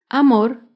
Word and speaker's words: amor: tilde es la palabra amor. Amor se acentúa en la última sílaba, pero no lleva tilde porque no termina ni en vocal ni en las consonantes N o S.